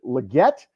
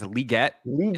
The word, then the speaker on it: Legette: it we're now doing is it Legette or legan said that there was a new pronunciation I think it's liette is is where it it goes so I'm not